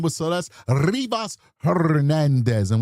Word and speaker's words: Rivas: What I heard when I first started covering this case was that her name was Celeste Rivas Hernandez. And we like to roll our R's when we say her name.